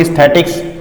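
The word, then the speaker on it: aesthetics: ए ई है, इसमें capital E निकलेगा क्योंकि इसमें आर नहीं। इसको बोलेंगे एस्थेटिक्स। इसमें आर आ गया तो क्या बोलेंगे?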